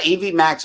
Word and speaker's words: EVMux: Yeah, and that's EV Max, but it's spelled EVMUX.